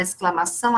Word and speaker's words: exclamação: aqui o XC, né, da palavra exclamação, o XC aqui é dígrafo, não é, porque o som do X aqui é o som de C, de S, né?